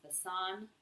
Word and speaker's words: besan: It's also called gram, it's also called, I think it's pronounced besan, or garbanzo bean flour.